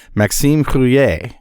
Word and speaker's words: Maxime Rouiller: All right, and that brings us to our guest, and let me say this carefully, Maxime Rouiller.